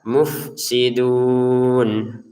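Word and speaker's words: المفسدون: Jadi bacalah mufsidun. Almufsi. Mufsi begitu. Enggak ada e-nya, enggak ada pantulannya.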